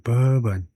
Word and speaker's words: bourbon: 발음이 어떻게 된 거냐 하면에 버언이라고 하네요. 법은 예 버은 네. 버번이라고 앞에다 액션 들리고 버번 그러네요.